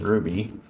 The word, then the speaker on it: RWBY: character Ruby's fit in Ruby yeah you think it was but Ruby is spelled uh RWBY whereas her name is r u y it's an acronym of the main characters names who Jeff you're freaking